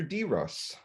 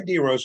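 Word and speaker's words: DEROS: mark and students you won't know this phrase it's spelled d-e-r-o-s what was your d-ross my d-rose was april 3rd of 1969.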